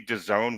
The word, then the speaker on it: DAZN: if you go to the DAZN, which rhymes with calzone app, it's in the frame.